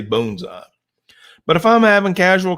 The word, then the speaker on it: bonsai: I would teach you the proper pronunciation of this word is bones up and if you messed up in the class and said bonds I would correct you bones up but that's just to